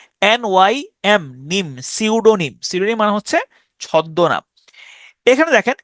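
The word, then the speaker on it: tsunami: বর্ণটা উচ্চারিত হয় না প্রথম বর্ণটা সাইলেন্ট যেমন সুনামি আমি এটার উচ্চারণ করি টি সুনামি টি সুনামি এইটিটা হচ্ছে সাইলেন্ট থাকে টি সুনামি টি এস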